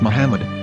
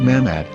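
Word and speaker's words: מחמד: ben yehuda's hebrew english dictionary it is correctly pronounced as muhammad not mahmad so how we're going to know for sure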